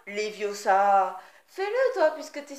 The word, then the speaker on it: Leviosa: C'est Leviosa, et pas Leviosa.